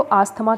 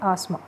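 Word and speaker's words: asthma: किसका, इसको देखो, हिंदी में तो आस्थमा कह देते हैं, लेकिन इंग्लिश में जो इसकी प्रोनाउंसिएशन होती है वो होती है आस्मा। क्या प्रोनाउंसिएशन होगी, आस्मा होती है इंग्लिश में, और हिंदी में इसको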